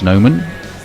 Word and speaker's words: Noman: Back towards Noman, and there is no run. It is pronounced Nauman, of course, isn't it?